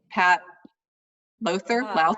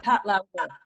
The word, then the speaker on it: Lowther: Post, and won the, tell me how to pronounce it this time, Pat Lowther? Pat Lowther. Pat Lowther. Thank you. Lowther.